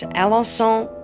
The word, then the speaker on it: Alençon: As I said earlier, it's 100% cashmere, and this lace that you're seeing, this gorgeous lace detail, excuse my terrible French, it's pronounced Alençon lace.